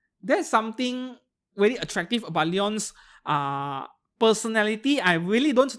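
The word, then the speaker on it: Lion: here ah finally a leon enjoyer yeah her name is Leon even though it is spelled l i o n from uh Dan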